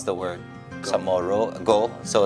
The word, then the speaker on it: Chamorro: As we know, Samoru is usually spelled or before it was traditionally spelled with a CHAMORRO, right?